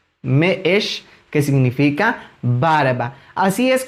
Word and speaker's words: me'ex: Eso significa que hay que dar una pequeña pausa al momento de pronunciarlo. En este caso quedaría de la siguiente forma: y la palabra que lo ejemplifica es meesh, meesh, meesh, que significa barba.